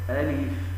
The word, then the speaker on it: الم: من اول سوره البقره يقولون هكذا الم م والصواب الم م ومنهم من